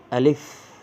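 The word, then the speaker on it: ألف: জোরে জোরে উচ্চারণ করতে আলিফ আলিফ আলিফ নিশ্চয়ই লক্ষ্য করছেন আলিফ বলার সময় আমি কিভাবে উচ্চারণ করেছি আমি প্রথমে দ্রুত বলেছি এবং শেষে ফ যুক্ত হয়েছে এবং হালকা বাতাস বের হবে আলিফ বা তা তা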